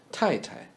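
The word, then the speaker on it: 太太: Tai, Tai. The first Tai is the same as the word tie. And the second should be reduced to T. Tai Tai is a polite way of saying wife.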